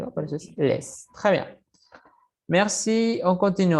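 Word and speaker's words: laissent: Conjugado sería il, les. ¿Por qué? Porque la ENT no suena.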